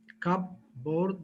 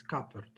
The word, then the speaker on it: cupboard: connect them together or combine them together they pronounce it cup board but its correct pronunciation is coppered and that may hesitate and exaggeration its